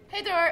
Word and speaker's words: Hej då: Hey Dor. Okay, so This is Elsa. And hey Dor. Hey Dor. Hey Dor. Hey, I just said hey Dor. Hey Dor.